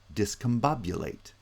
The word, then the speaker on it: discombobulate: is showing me stressed but bob is primary stress and then each of the others you get the stress pattern discombobulate now i haven't shown